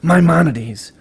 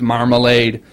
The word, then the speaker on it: Maimonides: Jewish scholar and philosopher Maimonides. G-Fish, if you're listening, I told you it wasn't pronounced marmalade.